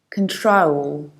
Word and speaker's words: control: control and controlling and we should say control i reduce the very beginning can i don't say con i don't say cone i say pin but i round the second syllable i don't say troll act troll i say troll it's control not control that's not enough control